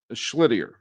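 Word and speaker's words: Schlittler: Cam Schlittier, right? That's how you say it.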